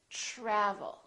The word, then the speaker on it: travel: So the TR together make this sound almost like a CHR, almost like ch, but it's a softer one. It's ch, try, try. So let's look at some words that are spelled with TR. Try, travel. We don't say travel or travel. We say travel.